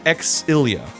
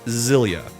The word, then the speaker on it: Xillia: It's Exilia, not Zillia.